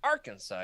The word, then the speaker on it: Arkansas: to move to Arkansas you always had to say it like that Arkansas you really gotta go up above the top that's how you know you're local you know what I'm